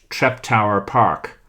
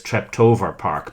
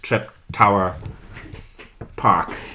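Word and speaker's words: Treptower Park: also pronounce it as trep tower park. Yeah, I think they say trap tour but maybe another Yeah, but they but they don't do the v sound.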